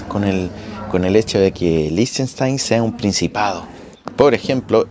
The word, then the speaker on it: Liechtenstein: Miren, aquí está, no se dice Liechtenstein, ni Liechtenstein, ni Liechtenstein, como lo he dicho yo, sino que Liechtenstein.